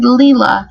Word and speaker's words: Leila: that name layla but when i heard her pronounce her name she said leela so it reminds me